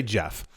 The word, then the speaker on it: Geoff: to Standard Chartered analysts, is that Jeff or Geoff? That's not a joke. I've never known how to say this name, Geoff, because it looks like Jeff, but then it's also Geoff. I'm going to say Jeff.